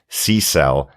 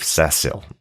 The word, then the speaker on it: Cecil: a drunk parent and still can cope with SE cell as the mispronunciation of cesil very good absolutely finally sea cells sea cells